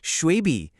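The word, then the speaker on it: 雪碧: And they actually translated it phonetically to snowy green? Yes, shuibi.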